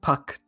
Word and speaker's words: Puck: Very, well, Duchess kind of sounds like duck, and Puck rhymes with duck.